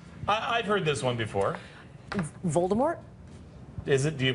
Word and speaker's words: Voldemort: heard this one before Voldemort is it do you pronounce it - you're not I just did and you're not supposed to you're not supposed to pronounce the T no more old Harry